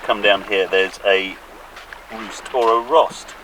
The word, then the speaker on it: Roost: down here there's a roost or a Rost it's written Rost but it sounds like Roost when the locals say it but you can hear